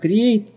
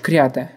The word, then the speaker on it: create: То есть, если ты не знаешь, как читается правильно create, а говоришь крята, крята.